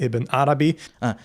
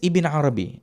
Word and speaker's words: Ibn Arabi: wrong, the figure Muhyiddin ibn Arabi. He says Ibn Arabi. His pronunciation is correct without the al.